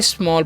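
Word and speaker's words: small: अब आगे देखिए समझिए लिखा हुआ है एस एम A dull L तो इसे हम क्या पढ़ेंगे स्मल पढ़ेंगे क्यों पढ़ेंगे क्योंकि एड इसके साथ में भी है ना तो यहां पर औ उच्चारण हो जाएगा ठीक है तो इसको क्या पढ़ेंगे हम स्मॉल अब स्मॉल का मतलब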